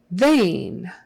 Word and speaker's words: vain: the teeth sample sample vain vain EI in this case is pronounced like a long a they vain v v